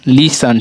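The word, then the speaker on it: listen: जैसे सुनिए, समझिए, देखिए LISTN, लीसन, ठीक है, लीसन, टी हमारा क्या है, साइलेंट है, ठीक है।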